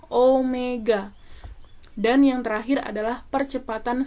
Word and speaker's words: Omega: yang di layar itu bukan dibaca wae salah kalau kalian baca wae jadi yang benar dibacanya adalah Omega dan yang terakhir adalah